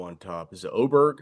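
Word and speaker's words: Åberg: Is it Oberg? Oberg.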